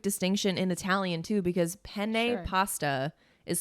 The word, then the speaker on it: penne: in italian too because penne pasta is spelled p-e-n-n-e and you have to in in italian when there's a double consonant you have to put the emphasis on the double consonant because spin pen because